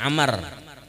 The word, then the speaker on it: Amr: Ditulis sebagai Ain-Mim-Ra-Wau. Dibaca sebagai Amr. Dengan Ain-Mim-Ra, itu adalah Umar. Pelafalannya mirip dengan Amr. Umar dan Amr terdengar sama.